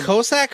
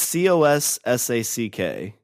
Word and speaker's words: Cossack: on the cossack okay is that kosak or cossack it's c-o-s-s-a-c-k they don't give me a pronunciation i wouldn't say it's classic but cossack is is a is a russian thing and that's the greatest